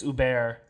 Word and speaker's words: Hubert: It's spelled like Hubert, but I think it's Hubert, who's played by Hubert Conde, I think is his name.